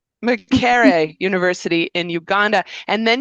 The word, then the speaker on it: Makerere: your undergraduate degree at mccerara I'm probably saying it wrong university in Uganda say it properly for me it's Mara University so There we go. McCre University in Uganda.